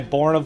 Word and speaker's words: Borna: So this is Prison Ride by Borna Velesh. I think I'm saying that right. We talked about this. I messaged him. He said Born A. It's pronounced like A. A, man, like Canadian A.